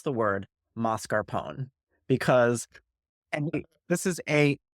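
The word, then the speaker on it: mascarpone: hear it marar Pony you know what the Italians will pronounce e so if we want to be correct it's moscar Pon if you want to say moscar Pony go ahead but if you are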